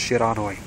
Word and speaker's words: Shiranui: I'm like, oh god, no, it's pronounced Shiranui.